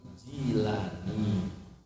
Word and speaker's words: Jilani: ngaji, orang tak alim, jangan nyebutnya kurang pas kalau Jailani, tapi Jilani karena itu dinisbatkan kepada nama kota Jil. Jadi yang lebih tepat bacanya jilani.